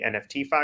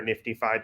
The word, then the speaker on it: NFTfi: would say, would be NFTFi or NiftyFi, depending on how you pronounce it.